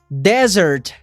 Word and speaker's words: desert: Cuidado para você não confundir ela com essa outra palavra, que tem apenas um S e a pronúncia é desert, que é deserto.